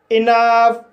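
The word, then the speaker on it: enough: इसी तरह से कुछ शब्दों में OU का उच्चारण आ होता है, जैसे इनफ, रफ, टफ। तो गाइस इन सभी शब्दों में OU का उच्चारण आ हुआ है और GH का उच्चारण फा हुआ है।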